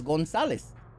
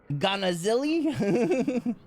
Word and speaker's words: Gonzalez: Where's the C come from them? There is no C. It's Gonzalez. You say Ganazili? Ganazili? Gonzalez. Gonzalez with a Z as in Z.